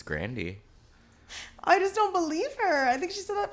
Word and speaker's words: Ariana Grande: ago and saying that her name was actually pronounced like Ariana Grandy or something mhm what was up with that it is that's her name Ariana Grandy Grandy bout why cuz